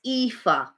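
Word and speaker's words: Aoife: good is it ether um no it's ifa um i can i can't spell it for you but it's um it's an irish spelling so it does it's not a phonetic spelling so it's a o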